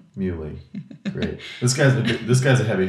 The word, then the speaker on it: Muhly: Nico Muhly? Muhly.